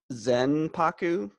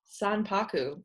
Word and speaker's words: sanpaku: Zenpaku? Sanpaku.